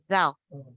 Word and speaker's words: though: an adver conjunction and the pronunciation is do yes with this which means that the tongue is going to be outside in between the teeth right though though though like even